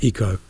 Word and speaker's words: Ico: It's actually more like Ico, or how did you pronounce it? Eco.